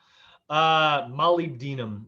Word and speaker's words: molybdenum: Molybdenum. Molybdenum is how the Brits pronounce it, which I think is hilarious.